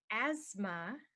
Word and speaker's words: asthma: you can't breathe properly so asthma the th is silent we don't say it so here's a way